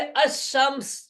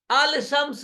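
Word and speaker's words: الشمس: जाए शम ल शम इस पर अलिफ लाम लगे इसको पढ़ेंगे अमस अल शम्स नहीं पढ़ते अमस इनके हो तो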